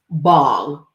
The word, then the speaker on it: Bhang: uh bangology from well it's actually pronounced bong the the bang part which i say bang because i'm southern um